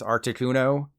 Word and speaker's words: Articuno: The official pronunciation is Articuno, so there's no surprises there.